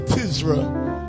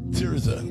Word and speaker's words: Tirza: We have one of the greatest songbirds in all of America, Sister Tizra Witherspoon. Did I say it right? Or Tirza? Tirza, that's it.